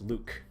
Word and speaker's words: Luc: Ever since I was a kid, I've always pronounced this guy's name as Luck, because it's L-U-C, it's Luck. But I've had people tell me it's pronounced Luke, because apparently that's how you're supposed to pronounce it.